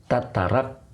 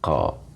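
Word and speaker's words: تترقى: Jadi ini summa tatarak tataraqqa. Nah, itu bacanya.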